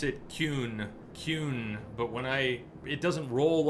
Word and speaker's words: Qun: They pronounce it Qun, but when it doesn't roll off my tongue.